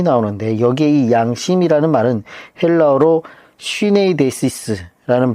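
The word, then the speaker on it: συνείδησις: 거짓이 없는 믿음이 나오는데 여기에이 양심이라는 말은 헬라어로 쉬네이데시스라는 발음을 쓰고 있는데이 말은 바울 사신에 19번 정도 나옵니다.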